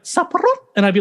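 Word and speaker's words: สับปะรด: I'd be like saparot, and he'd be like saparod, and I was like, no, saparot, and he'd be like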